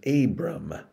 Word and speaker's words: Abram: initially in his stories he is known as abram abram and we're going to talk about that